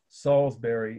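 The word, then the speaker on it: Salisbury: this is Salsbury Cathedral salsbery is just like the steak right it's spelled the same a city in England s a l i s b u r y Salsbury Cathedral of course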